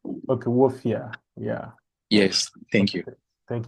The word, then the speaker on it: Wolfia: not got and also the pronunciation of the studio name is not W it's wolfia okay wolfia yeah yes thank you